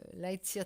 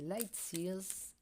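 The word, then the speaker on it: Lightseers: va tomber avec le lightsia tarot que l'on ne je le prononce mal depuis le début en fait c'est light Sears donc j'ai travaillé de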